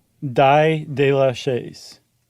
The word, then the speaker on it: d'Aix: d'Aix de la Chaise That's d'Aix, d a i x, is that how that's pronounced?